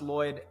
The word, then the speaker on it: Lloyed: My name has an E in it. So double L O Y E D. And it's actually pronounced Lloyd.